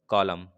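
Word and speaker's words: column: Which letter is silent in the word कॉलम? भाई इसमें बताना, कॉलम में क्या साइलेंट है? एन का, एन साइलेंट है।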